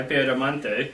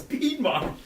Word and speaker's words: Piedmont: Well, you didn't help when you were arguing about my Piedemonte. Piedemonte. It's Piedmont. It's Pied. It's Piedmont. I know that's how it looks, but it's pronounced Piedmont.